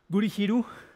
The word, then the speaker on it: Gurihiru: With hopefully I will pronounce the name correctly, with Gurihiru.